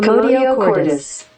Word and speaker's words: commotio cordis: Commotio cordis. Commotio cordis. Okay. God, I butchered it when I said it.